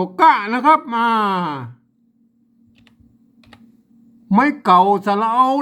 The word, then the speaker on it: เก๊า: แค่ นี้ อาจ จะ อ่าน ว่า เขา นะ ครับ ไม่ ใช่ ครับ มา ตัว ค ควาย เนี่ย มัน ยืม เอา มา เป็น ตัว กล้า นี่ นะ ครับ อ่าน ว่า เก๊า นะ ครับ มา นอก จาก